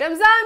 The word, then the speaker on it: Ramzan: नीचे कमेंट कर रहे दोनों होते हैं रमन स्पेलिंग को लेके बड़ी हमेशा ही लड़ाई होती है कि इट्स नॉट रमदान इट्स रमजान नो इट्स नॉट